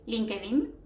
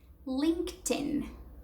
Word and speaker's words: LinkedIn: speaker, I would say LinkedIn, right? I have an account on LinkedIn, right? However, the way you say it, it's like this. LinkedIn, LinkedIn. So linked as when something is linked, and then in, LinkedIn.